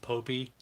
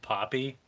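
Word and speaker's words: Popy: And by the way, I just learned that it's pronounced Popey. Somebody corrected me at the toy show. I said Poppy, and they were just like, "Oh, you're an idiot."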